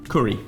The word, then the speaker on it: Cury: With a single R. So would we pronounce that curry? Curry.